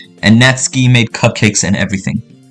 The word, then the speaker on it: Natsuki: new member, and Natsky made cupcakes and everything. I used to call her Natsuki, bro. Her name is Natsky. That's how you pronounce it.